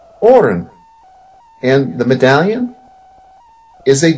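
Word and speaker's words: Auryn: is a magical necklace that is called the Orin and it's spelled a u r y n and the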